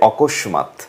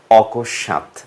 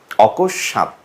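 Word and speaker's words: অকস্মাৎ: ভুলভাবে উচ্চারণ করে বলে অকস্মাত যেটি ভুল উচ্চারণ শুদ্ধ উচ্চারণ হচ্ছে অকশ্যাত আপনারা দেখতে পাচ্ছেন পাশেই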